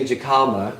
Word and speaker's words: jicama: That Mel is pronouncing jicama correctly.